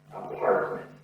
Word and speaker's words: apartment: Apartment. Stresses on the pa. Apartment.